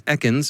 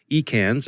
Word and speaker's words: Ekans: By the way, a quick note, it's been brought to my attention by a kind listener that the correct pronunciation is Ekans and not Ekans, as I was saying earlier.